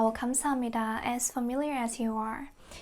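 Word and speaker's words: 감사합니다: Kamsahamnida.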